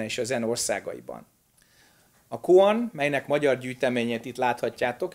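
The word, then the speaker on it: 公案: Kungan, ez volt a kínai, kongan, ez a koreai, és koan, ez a japán kiejtése ugyanannak a két karakternek,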